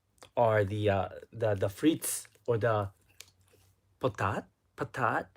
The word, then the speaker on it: patat: Oh, last but not least are the frites or the potat. Patat. How do you say it? Is it patat or is it potat? But the potatoes, aka the patat. Thank you, the patat.